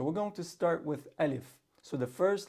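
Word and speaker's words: ألف: Some people say Alif. All right? It's not Alif, it's Alif.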